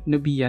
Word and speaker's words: Nubia: Paano nyo ba pinopronounce yung Nubia?